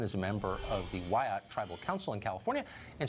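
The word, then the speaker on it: Wiyot: Madison Flynn is a member of the Wyatt Tribal Council in California, and she joins us tonight. Madison, thanks for coming on. Hi, thank you for having me. It's pronounced Wyatt.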